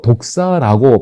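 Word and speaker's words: δόξα: 영광은 헬라어로 독사라고 발음됩니다.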